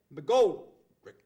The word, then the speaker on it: McGoldrick: McGoldrick, right?